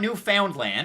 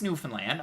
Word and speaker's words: Newfoundland: anybody else here we are but it's not newfoundland it's newfoundland i got screeched in a couple of months